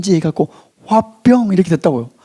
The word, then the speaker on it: 화병: DSM5에 화병 이렇게 HW에 B 해갖고 화병 이렇게 됐다고요. 한국 발음 그대로 이게 등지가됐어요.